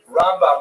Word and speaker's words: Rambam: Rambam is pronounced with the emphasis on the first syllable, Ramb.